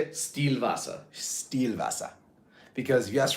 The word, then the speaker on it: Stillwasser: Stillwasser.